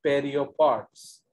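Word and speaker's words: pereiopods: Okay, तो actually biology में PAE या POE का स्पेलिंग या प्रोनाउंसिएशन पे होता है, PE। तो आप PAE को भी PE लिख सकते हो, POE को भी PE लिख सकते हो। तो इसलिए इसको हम लोग कहते हैं पेरियोपॉड्स।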